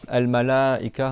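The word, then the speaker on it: الملائكة: d'ouvrir un doigt par exemple al malaika dans le coran tu dois faire plus que deux temps.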